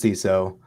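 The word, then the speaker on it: Seiso: I like oh yeah it's a play on CSO it's also a Japanese term that means like neat clean and organized so the idea is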